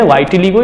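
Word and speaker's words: vitiligo: वाइटिलिगो या तो विटिलिगो इनका प्रोनाउंसिएशन होता है।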